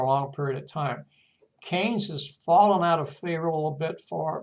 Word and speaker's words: Keynes: this gentleman John Maynard Keynes uh pronounced as c-a-y-n-e-s had a profound effect